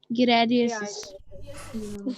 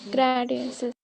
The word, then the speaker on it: giardiasis: Giardiasis. Gradiasis. Yes, giardiasis. Pronounce it properly.